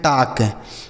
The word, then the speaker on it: talk: आगे लिखा TALK, इसे पढ़ते हैं टाक। इसे टाल का नहीं पढ़ते। देखिए बच्चों, अगर यहाँ पे एल के बाद के लिखा हो तो जो है एल जो होता है वह साइलेंट होता है। ठीक है, तो इसको हम टाल का नहीं बल्कि टाक पढ़ेंगे।